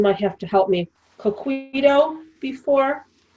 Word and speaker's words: coquito: So Mimi, have you ever heard of, I'm going to say it wrong, Ronnie, you might have to help me, coquito before?